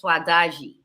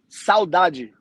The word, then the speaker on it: saudade: it's my favorite, is swadaji. Swadaji it just invokes so many emotions in me, and it's just beautiful. Am I saying it correctly? Swadaji? Saudade. Saudade. Saudade is when you, in